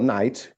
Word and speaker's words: knight: Por isso, palavras como knight, que é cavaleiro, o Konciado originalmente não se pronuncia. Francês não tinha esse som, então eles pararam de pronunciar, mas mantiveram a letra, né?